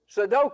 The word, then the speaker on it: sudoku: but I do su, how do you say that? Sudokco. Sudoku. Sudoku. I always get my O's and U's messed up.